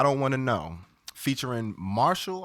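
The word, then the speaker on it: MRSHLL: want to know featuring marshall i think it's pronounced martial but it's all caps it's r it's m r s h l l all caps it seems like marshalls just without the vowels you know the kids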